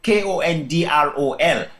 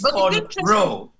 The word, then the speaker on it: cornrow: But the actual name is Kern Rose. Cornrow. And as in corn-row.